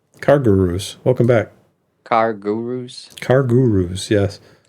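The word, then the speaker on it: CarGurus: Car Gurus. Car Gurus, yes. You kind of say it in one word. Car Car Gurus. Car Gurus. Car It's Guru, Gurus. like mini minions. It's 2 words, man.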